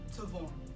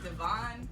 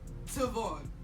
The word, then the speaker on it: Tavon: And he was like, Tavon. And I was like, Devon? And he was like, Tavon.